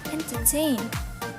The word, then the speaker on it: entertain: First, for the simple verbs, if final syllable is strong, it will receive primary stress. For example, entertain, resurrect. We see that the final syllable of entertain and resurrect